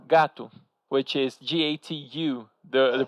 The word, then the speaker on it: gato: we say gato, which is Gatu. The pronunciation, the popular pronunciation is gato.